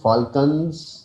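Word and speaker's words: Falkland: है उसके बाद एक जगह है उ कते फाल्कन एल साइलेंट है फाल्कन आइलैंड फाल्कन आइलैंड जो हैं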